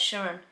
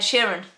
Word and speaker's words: Sheeran: musicians have stammers ed sheeran for example right sharon ed sheeran sorry i'm very bad with pronunciation of names but ed sheeran um yeah